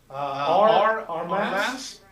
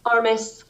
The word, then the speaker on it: Armis: Our mass? Hi, I'm the Health Service Director at Squaxin Island Tribe. How do you say your last name? Armis. It is Armis, okay.